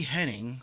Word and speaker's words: Hennig: Why can't I pronounce anything? It's Amy Hennig, who worked on games like Legacy of Kain and Uncharted.